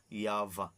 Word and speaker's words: Yahvah: daw nga image no ng tetragrammaton ipronounce ni siya nga yva Okay so mga igsoon